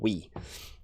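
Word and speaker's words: Ooui: there is another project called Yui your UI it's spelt oo UI or we sorry that's what it's called we is the pronounced pronunciation for it has a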